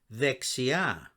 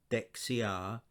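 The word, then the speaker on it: δεξιά: correct vexia note that the first letter velta which the english called delta is pronounced as a as in the word the the th in the so it's a the sound it's not a duh so we don't say dexia we say vexia the next word is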